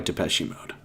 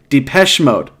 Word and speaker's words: Depeche Mode: tonight was probably uh my favorite song by depechie mode depeche moss mouse mode depeche mode am i